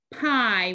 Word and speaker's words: pie: apple pumpkin and lemon what do you think it is pie pie when you see this card say pie i the key word pie helps us remember the i sound spelled with digraph i e pi i the next